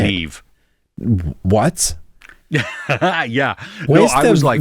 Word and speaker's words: Niamh: Well, how do you say Neve.